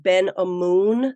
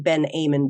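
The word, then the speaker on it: Ben-Amun: name brand before, and I believe it might be pronounced Ben Amun. Somebody told me that, so I'm gonna take their word for it. I think I was saying Ben Amun before.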